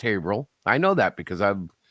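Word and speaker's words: Haverhill: H Hill it's spelled h Hill but it's pronounced hail I know that because I've I lived there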